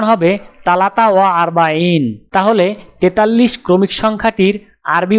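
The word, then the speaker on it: ثلاثة وأربعون: উচ্চারণ হবে তালাতা ওয়া আরবাইন। তাহলে 43 ক্রমিক সংখ্যাটির আরবি উচ্চারণ হবে তালাতা ওয়া আরবাইন।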